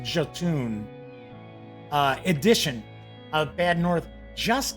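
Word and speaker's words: Jötunn: So here, interestingly enough, the Jotun, or Jotun, I think it's pronounced Jotun, edition of Bad North just came out over the summer, like late summer.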